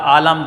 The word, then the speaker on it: عالم: پہلا لفظ ہے عالم۔ لفظ 2 ہوتے ہیں، ایک ہوتا ہے عالم، ایک ہوتا ہے عالم۔ عالم وہ ہوتا ہے جو جاننے والا ہوتا ہے، اور عالم کا معنی دنیا، یہاں مراد عالم دنیا سے مراد ہے۔ تو عین پر زبر ہے، لام پر زبر ہے،